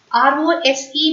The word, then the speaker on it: rose: told you already sir but when s comes between two vowel sounds O is a vowel sound e is a v sound then yes becomes is it sound so r o s e will be pronounced as Rose and not rose that z sound should